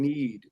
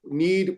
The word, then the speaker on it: knead: Roll out and need. Need. The K is silent.